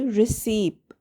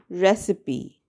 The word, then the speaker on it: recipe: Sometimes learners of the English language say receipt. What you should say instead is recipe. Listen closely. Recipe. Recipe. There are 3 syllables and the stress is on the first syllable.